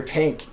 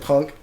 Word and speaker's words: P_NK: think Tyler night and the first time you pronounce my name you said Punk like I don't blame you for thinking that but it's pink it's like the I